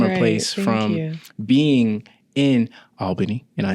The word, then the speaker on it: Albany: Because you've went from a place from being in Albany, and I said it right? Yes, you did. Albany.